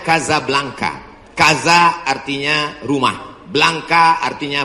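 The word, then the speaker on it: Casablanca: nama negaranya Maroko ibukotanya tulisannya Caca blancha cara bacanya Kadzab langka Kaza artinya rumah Blanca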